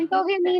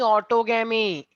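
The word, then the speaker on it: autogamy: Self pollination का सर एक एंटोगेमी ना, हाँ, सेम एंटोगेमी नहीं, ऑटोगेमी। हाँ सॉरी एंटो नहीं होता है, ऑटो।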